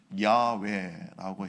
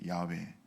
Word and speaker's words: 야훼: 근데 이것이 좀 더 히브리 오음에 가깝게 발음하려면 야외라고 해야 됩니다. 야외.